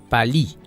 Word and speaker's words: Paris: Le quartier Paris de Monga est plutôt prononcé Pali, puisqu'il faut dire que les Goa ou les Mbato ont d'énormes difficultés à prononcer la consonne R. Ils préfèrent remplacer le R par une autre consonne, la consonne L.